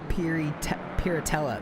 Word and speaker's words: Piratella: BMW has Lavlogan got a bit compromised on the curbing on the outside of Piratella.